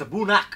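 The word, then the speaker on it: A'bunadh: the the canister yeah it looks like a bound yeah but it's a bunnak what have we been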